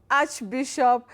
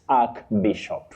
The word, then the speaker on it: archbishop: Now Betty, that combining form takes the sounding arch. Arch, not ark. Archbishop not ark bishop.